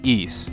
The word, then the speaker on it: Ys: to clear something up yes that is the proper way you pronounce ease you know how I know that because the voiceover from the turbografx-16 CD version of east book 1 & 2 says so eise the ideal utopia